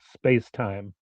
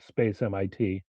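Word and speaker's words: SpacemiT: all these meetings that you pronounce it spacetime not space MIT don't ask me why maybe it has something to do with their logo go.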